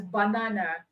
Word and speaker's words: banana: Okay, that word you usually call or you produce as banana, you say it's banana, because the first vowel sound in banana is a schwa sound.